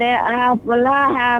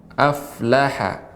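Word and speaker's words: أَفْلَحَ: Jadi tidak boleh afla, tapi aflaha, bukan afla.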